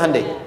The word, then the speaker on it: Hyundai: bikin Honda sini Handai hyundaikan dibacanya Handai sana apapun yang dibuat